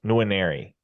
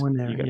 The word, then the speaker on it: Nwaneri: It's Nwaneri. It's Nwaneri, yep. Yeah, you can't neglect the first N.